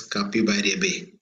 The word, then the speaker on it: Capibaribe: So we will pronounce this as Capibaribe.